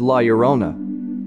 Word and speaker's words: Llorona: language Lona means Weeping Woman and it is pronounced as Lerona the ghost of Lerona is seen all over